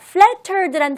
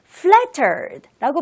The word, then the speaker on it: flattered: 자, flattered란 단어는 중간에 tt가 두 개나 들어가 있는데요. 물론 t를 강하게 flattered라고 발음해도 좋지만 약간 부드럽게 발음하면서 flattered라고 발음하는 것도 맞답니다.